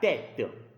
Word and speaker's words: tête: So if you see that letter E with a cap in a word, the pronunciation is E, like la tête.